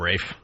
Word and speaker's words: Ralph: They like to call him Rafe. Is it Rafe? Even though it's spelled Ralph. I like to say Ralph myself, Jimmy. Ralph.